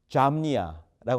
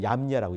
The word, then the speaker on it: Jamnia: AD 90년 잠니아라고 하지 않고 얌니아라고 읽어요. Jamnia. 잠니아가 아니고 얌니아라는 동네인데 거기서 이렇게 이제 랍비들이